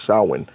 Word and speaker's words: Samhain: Okay, just like we read in the definition of Samhain, which is, it looks like it's pronounced Samhain, but it's Samhain.